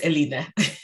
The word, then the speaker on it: Elena: But it's Elena. Elena.